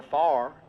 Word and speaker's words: fire: They've got the Musco lighting night of fire or as we say in Texas, not a far spelled the same. It's just pronounced differently.